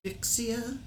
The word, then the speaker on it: Vixia: And Grandma Rose's Homestead says, I bought a Canon Vixia, is how it's pronounced?